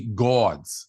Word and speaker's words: Gawds: we got the fantasy gods did I say go I want to say it because it's spelled g-a-w-d you gotta say you gotta say Gods it's the gods Gods yeah with the